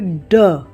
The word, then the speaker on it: ड़: तो इसका उच्चारण होता है ड और इसका उच्चारण होता है ड़।